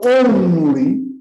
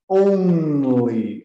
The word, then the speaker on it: only: E então, only, eu preciso sempre pronunciar o N da forma N. Sempre. Então, only é sempre only, only. Todos os N's têm que pronunciar desta maneira. Não há em inglês N aqui embaixo na garganta. Não existe. Então, cedam à tentação de dizer only. Não, não, não, não, não. Tem que ser only, only.